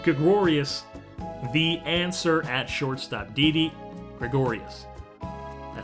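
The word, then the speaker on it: Didi Gregorius: is is DD Gregorius the answer at shortstop DD Gregorius I said it right that time DD Gregorius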